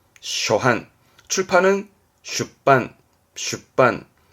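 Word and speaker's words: 出版: 세게 가지고 반복해서 찍어낸 그렇죠 출판의 판자 초판 발음은 쇼한 쇼한 출판은 슈빤 슈빤 뭐 계정판 가위대반 카이떼의 반 최신판 사이심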